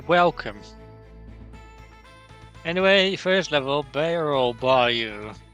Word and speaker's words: bayou: Anyway, first level, barrel bayou. Bayou, not bayou. Nobody pronounces it as bayou. If you pronounce it as bayou, you're ridiculous.